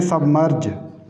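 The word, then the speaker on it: submerge: दूसरे सिलेबल के साथ है, इसलिए इनमें हम साइलेंट नहीं करेंगे। ये याद रखने की बात है। इस तरह से देखें सबमर्ज, सबमर्ज, इसमें भी देखें एम जो है मर्ज,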